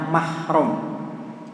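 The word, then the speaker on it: محرم: Kalau tidak ada alif lam, orang Arab bacanya mahram. Mahram itu muhrim. Jadi kalau ada tulisan mim mim tanpa alif lam bacanya mahram. Kalau ada alif lam pakai al-Muharram untuk membedakan antara keduanya. Nah, Al-Muharram itu yang biasa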